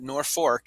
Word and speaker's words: Norfolk: uh the post off everyone was calling it nor fork even though they spelled it nor folk and uh they spell it norfolk and they pronounce it norfolk and